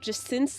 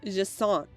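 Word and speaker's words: Jacinthe: Yeah, speaking of mispronouncing stuff, I found out that Jacint's name is actually pronounced Jacint. Like croissant, but Jacint. Because it's French.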